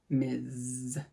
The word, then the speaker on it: Ms.: by their last name the way to pronounce this is with a z ms ms miz so i am ms